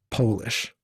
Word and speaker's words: Polish: It's polish, but it's spelled polish and Polish are spelled the same way.